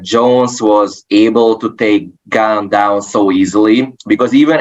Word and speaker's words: Gane: I think you pronounce it as Gan. Yeah. But like Cyril Gan. Yeah. Cyril Gane.